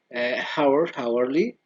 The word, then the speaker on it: hourly: History, historical, hourly, or the H is silent.